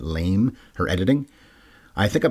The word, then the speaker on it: Lame: best supporting actress Jennifer I guess it's lame La m not L but lame her editing I think